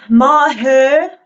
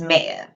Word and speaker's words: Maher: of your last name uh Maher that come from I'm like what are we even reading the same word um but yes it's mayor uh the uh the